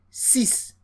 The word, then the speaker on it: six: The X here is pronounced as S. And that's why we have six.